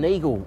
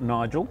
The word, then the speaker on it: Nigl: Martin Neagle if if you go there he he's really keen to show other people's wines just as this is pronounced Neagle not Nigel. Neagle.